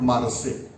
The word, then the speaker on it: Marseille: French scripting or, but spelling wise it is Marseilles. Whereas what we learn, they pronounce it as Marseille, like a Treaty of Versailles.